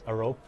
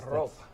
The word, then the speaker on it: Arop: The correct way to say it is Arop. Okay. If you want, you can roll the R too, but that's Arop.